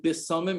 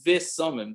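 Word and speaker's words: בשמים: And by Havdalah, it's not breira mine bisamim, it's breira mine visamim. The correct pronunciation for Havdalah is breira mine visamim, not bisamim.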